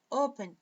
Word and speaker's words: open: Mas open, a força está no O.